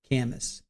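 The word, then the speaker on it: Kamas: Yeah, Camas is the way they're pronouncing it. Camas.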